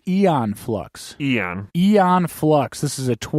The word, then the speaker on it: Aeon Flux: Did I say it wrong in the intro, Patrick? Aeon Flux? Eon Flux.